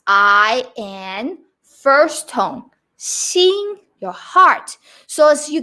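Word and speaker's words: 心: form of heart in mandarin chinese which is pronounced sing x i and first tone seeing your heart so as you can see that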